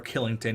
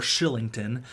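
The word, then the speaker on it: Kylington: a nice contract sorry it's not Oliver Killington even though it's spelled like that it's Oliver Shillington um he looks like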